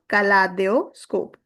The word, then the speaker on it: kaléidoscope: That is why I'm giving you the sound of kaléidoscope. It is same as of the English word kaleidoscope.